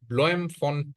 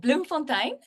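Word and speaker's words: Bloemfontein: you so much you you did did mostly right it's a town called Bloom Fontaine um we are the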